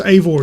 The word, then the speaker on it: Eivor: So pronounced Eivor is who you play as.